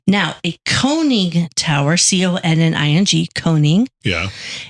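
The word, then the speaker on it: conning: Now, a coning tower, C-O-N-N-I-N-G, coning.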